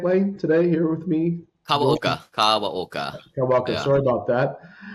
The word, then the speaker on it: Kawaoka: Kawaoka.